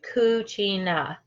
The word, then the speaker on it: cucina: the the Kachina and yes that's how you say it kutina it is it is italian for kitchen um so our Cucina